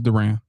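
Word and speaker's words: Durán: It's Duran. Duran. Well, it's kind of Durant. It's kind of like Durant. It's kind of like his name.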